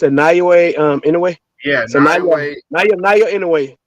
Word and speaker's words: Naoya: Nagwa. I keep forgetting how to pronounce his first name. The Japanese guy. He's talking about Naya. It's a Naoya Inoue.